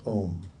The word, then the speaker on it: Om: It's a one-syllable mantra, C'est un mantra d'une seule syllabe pronounced Om.